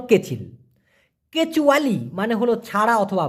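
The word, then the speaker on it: kecil: কেচিল মানে হলো ছোট অনেকে বলে কিসি না ভাই সঠিক উচ্চারণটা হলো কেচিল কেচুয়ালি মানে হলো ছাড়া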